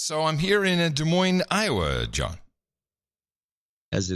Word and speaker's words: Des Moines: don't ah yes so I'm here in a Des Moines Iowa John as they like to call it Des Moines yes Des Moines now this was called Des Moines they do not they absolutely do not call